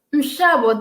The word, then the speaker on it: Nshabo: Nshabo. That's how you pronounce my name.